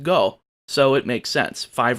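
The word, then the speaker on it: 五: go rangers fun fact the word five in japanese is pronounced go so it makes sense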